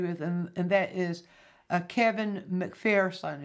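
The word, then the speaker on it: MacPherson: But there's someone I want you to become familiar with, and that is Kevin McPherson. It's spelled M-A-C-P-H-E-R-S-O-N.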